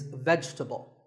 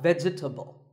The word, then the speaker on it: vegetable: Another food word that's mispronounced a lot is vegetable. It's not vegetable. If you say it correctly, there are only three syllables. Vegetable, vegetable.